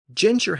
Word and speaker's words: ginger: But note that the modern form of the word is ginger, pronounced with soft G's, which is a French pronunciation.